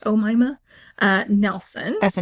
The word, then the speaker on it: Omaima: So it's Omaima, pronounced Omaima, Nelson.